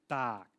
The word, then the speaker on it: Tak: it correctly it's pronounced dark kind of like dark but with a tea yeah it's a it's